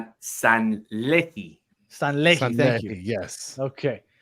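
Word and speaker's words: Sanllehí: We were talking about Raul how do you pronounce this guy's name? Raul Sanelli? Sanlehi.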